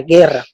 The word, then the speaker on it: guerra: La palabra guerra tiene un diptongo que es la U y la E, pero uno no va a pronunciar UR, no pronuncia guerra para darle fuerza a la pronunciación, pues tiene un solo sonido.